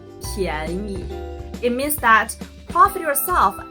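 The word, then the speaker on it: 便宜: 贵的 The opposite of 贵 is 便宜 cheap. Still, the second one is a light sound.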